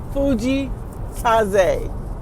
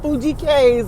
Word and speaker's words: Fujii Kaze: Fuji Kaz is what I was told is supposed to be pronounced. Not Fuji K's like I say it, but Fuji Kaz.